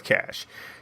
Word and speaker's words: cache: drives people so crazy when i say cache but it's a habit uh you said you heard it you said it you keep saying it i know it's cash i just can't help but say it wrong there's your top-notch caches